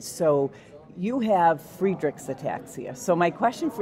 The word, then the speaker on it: Friedreich's: So I think the correct one is probably Friedreich's. Yep. But I think everyone says Friedrich's. Yeah. My family says Friedrich's. They do. Is totally not right.